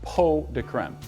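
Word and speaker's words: pots de crème: to be making chocolate peau de creme it's spelled pots de creme but it's actually pronounced peau de creme and it routes it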